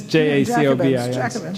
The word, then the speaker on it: Jacobins: Black Jacobins by, or Jacobins, how do you pronounce it? Jacobin. It's Jacobins, Jacobins, by C.L.R.